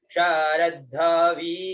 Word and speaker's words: शरद्धविः: तर्जनी, दाज्यंग ग्रीक म, इद्म, उसके बाद में श र द ध वी और विसर्ग, उच्चारण शरद्धवी, शरद, र के साथ में तो